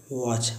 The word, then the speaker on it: watch: वॉच, WATCH, देखिए TCH आया हुआ है, इसमें टी साइलेंट होता है तो इसको पढ़ेंगे वॉच, वॉच मैंने घड़ी।